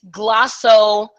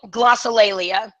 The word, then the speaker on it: glossolalia: But it's glossolalia.